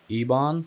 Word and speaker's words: Ebon: he was very hopeful and I think it's pronounced Ebon. Yes, it's Ebon.